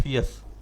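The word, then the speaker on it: fierce: इसको पढ़ते हैं फियस, आर साइलेंट है ना, इसको फियस।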